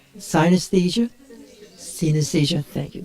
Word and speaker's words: synesthesia: Who can pronounce that correctly? Synesthesia?